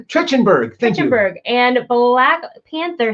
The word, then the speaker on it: Trachtenberg: We're also talking about Predator 5, tapped director Dan, how do you pronounce his last name? Trachtenberg.